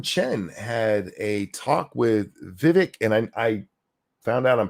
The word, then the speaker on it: Vivek: last name right but the Vivek is actually like vivac Viv that I I can't